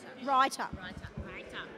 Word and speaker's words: Reuter: Writer. I'm going to just write it phonetically. Writer.